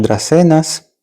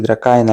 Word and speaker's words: Dracaena: Más Dracenas. Esa se ve bastante simpática. 37 euros. 37,90. Dracaena. Sí, Dracaena la pronuncian aquí. Yo la llamo Dracena.